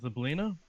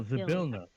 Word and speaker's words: Zabilna: Oh, so Zablina? Yeah, Zablina. The Kenku. The Kenku is looking for Zablina. Okay. Or at least Still not. information about Zablina. Oh, Zabilna. Zabilna. Oh, Zabilna, sorry. The pronunciation guide.